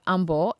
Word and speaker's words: Humble: of Houston it's called humble and the H is silent so that's a local